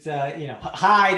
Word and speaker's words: Hield: Hield. It's Hyde.